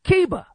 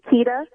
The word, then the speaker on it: Keita: We got Kiba from Michigan in the building. Kiba, speak to me. It's actually Keita, but that's okay.